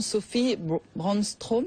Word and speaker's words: Sophie Brandström: Livre Manufactura aux éditions PC, parce qu'il y a la photographe également, Sophie Brandström, c'est comme ça? Oui, suédoise. C'est ainsi que l'on prononce.